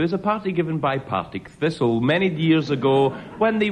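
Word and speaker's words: Partick Thistle: the Scottish first division Derek Nemo challenge no that's how it's pronounced it I come from that part of the world you can't get to kill me on that one right 32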